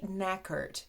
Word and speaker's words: knackered: for this video is knackered macket you can also say knackered if you feel more comfortable using the american pronunciation it's completely fine my